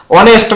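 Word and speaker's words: honest: অনেস্ট ম্যান, এই অনেস্ট ম্যানের প্রথম লেটারটা কি আছে, এইচ আছে, এইচ এর যদি বলে উচ্চারণ না হয়, হ্যাঁ, যদি পরের বর্ণটার উচ্চারণ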